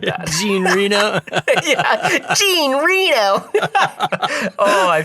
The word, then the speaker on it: Jean Reno: I just totally butchered that. Jean Reno.